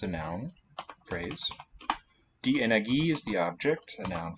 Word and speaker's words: Energie: geben sie die Energie dann in Form von Licht unterschiedlicher Wellenlänge ab, die Aurora entsteht. Sehr gute Aussprache. Excellent stress placement in the right place. Energie gets it at the end.